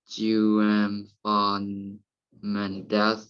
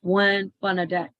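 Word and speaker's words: Juan Fernández: Robinson Crusoe is the largest of the islands which make up the Juan-Fernandez. It is one. We have to pronounce Juan Fernandez.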